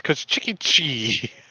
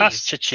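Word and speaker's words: Kostchtchie: It's Koshchiki. We're gonna How do I say that? cut the cheese. Koshchiki.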